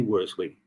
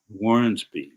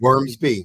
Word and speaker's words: Wormsby: any further ado, Sydney Wormley, our next speaker. Good afternoon, Phil. How are you? Outstanding. To you? Can't be better. I want to pronounce and make a correction. Wormsby, correct? Wormsby. Right.